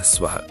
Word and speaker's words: स्वः: ओम भूर्भुवः स्वः, भूर में लंबा ऊ, स्वः के अंत में विसर्ग।